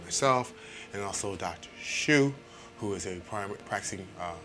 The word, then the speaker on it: Shute: Shute. Dr. Shute. Mm-hmm. Like you shoot a gun.